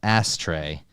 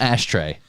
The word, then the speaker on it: Astray: wanna- The dude's name is Miles Astray, not Ashtray, Astray.